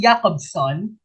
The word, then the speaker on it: Roman Jakobson: to question number six roman jacob's son is pronounced jacob's son founded the modern discipline